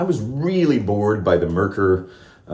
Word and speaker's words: Merkur: really bored by the merker uh i don't know that's merkur metcool i'm going to say merker because that's you know dumb americans get to pronounce things however they want i guess and i'm a